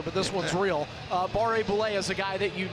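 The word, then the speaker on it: Barré-Boulet: I just go from one French pronunciation to another, but this one's real. Uh Barre Boule is a guy that you need to make sure you are covering on this power play.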